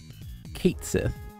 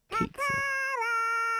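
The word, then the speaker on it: Cait Sith: I pronounce it Kate Sith.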